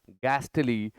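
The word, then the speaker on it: ghostly: एक शब्द है गैस्टली, दूसरा शब्द है गोस्टली। एच साइलेंट है इसमें।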